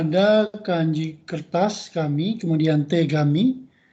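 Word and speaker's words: 手紙: Yang pertama ada kanji kertas kami, kemudian tegami. T itu tangan ya. Kemudian kami itu jadi ga, kami itu jadi tangan, tegami artinya surat. Surat ya. T itu tangan, kemudian kaminya menjadi gami, dibacanya jadi tegami.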